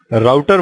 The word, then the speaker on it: router: और जैसे कि आपको नाम से भी आइडिया लग रहा होगा, राउटर वर्ड आया है वर्ड राउट से, जिसको हम रूट भी बोलते हैं और कुछ लोग इसे रूटर भी प्रोनाउंस करते हैं।